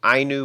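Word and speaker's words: Ainu: with the interaction between hokkaido's I knew people that's the pronunciation and Japanese settlers I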